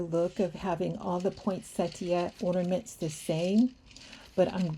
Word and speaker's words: poinsettia: the front with these poinsettia ornaments. And I've also heard people say poinsettia, which is probably the more correct pronunciation. I'm so used to just saying poinsettia.